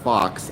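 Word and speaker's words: Fawkes: because you pronounce it fox. F AU. Uh, you pronounce it fox as in like the animal, which always seemed like a funny way to to pronounce it to me.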